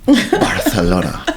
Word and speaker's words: Barcelona: You mispronounced Barcelona. Barcelona. There we go. Got to get that TH in there.